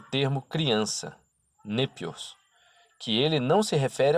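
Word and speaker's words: νήπιος: concerne o termo criança, népios, que ele não se refere aos tolos. Quando dizemos népios, é a doçura que desejamos exprimir. Népios é composto das sílabas ne e épios, que quer dizer doce.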